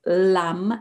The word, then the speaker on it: lam: The root syllable is lam, L-A-M.